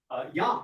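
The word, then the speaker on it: ים: So they borrowed the word Yam, meaning sea, pronounced in Hebrew Yam or in Phoenician as either Yom or Yum.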